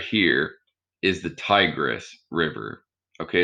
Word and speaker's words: Tigris: paper uh the one right here is the tigress river okay it's almost sounds like tiger and it's almost spelled like it's it's t-i-g-r-i-s so the tigris river